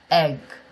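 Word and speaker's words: Aig: My village is called Enyon, and it's spelt A-I-G. A-I-G is pronounced in English egg.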